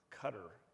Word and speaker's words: Qatar: water i was over in a cutter they you know qatar's how you might think it's pronounced but i was over